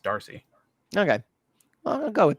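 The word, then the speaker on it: D'Arcy: I think it's just Darcy Darcy yeah but you don't have to pronounce the apostrophe yeah but I think it's pronounced Darcy okay well I'll go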